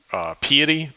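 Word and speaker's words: peity: It's a third-party library called Piety. It rhymes with deity.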